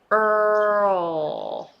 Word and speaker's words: Earl: back of the timeless so instead of going Earl oh you don't bring the tongue up you just lift your back of the tongue a little bit in the pronounce L sound there Earl oh oh oh it sounds kind of like a L right it's kind of vow and L so it's called dark L and which you don't